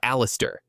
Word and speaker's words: Alistair: But the boy's name, the correct pronunciation is Alistair. Alistair, that's how you say his name.